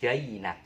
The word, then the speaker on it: فَأَنْجَيْنَاكُمْ: Ya, jinak, tapi bacanya jainak. Kayak bahasa Inggris ya. Jainak, bukan jinak tapi jainak.